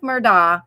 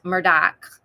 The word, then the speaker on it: Murdaugh: murdock cakes and um it's spelled like murdah but if you're from the low country it's murdoch and it's alec it's kind